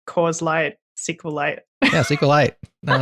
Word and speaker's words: SQLite: the correct way but it's actually like meteorite so it's like see you a light I can't even do